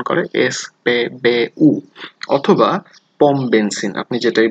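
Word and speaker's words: SPBU: সবলুম, সবলুম, petrol pump, S পে বে উ। ওকে, ওরা কিন্তু ইংরেজির মতো এস পি বি ইউ এরকম উচ্চারণ করে না, ওরা উচ্চারণ করে এস পে বে উ, অথবা পম বেনসিন, আপনি যেটাই বলেন না কেন সেটাতেই ওরা বুঝবে।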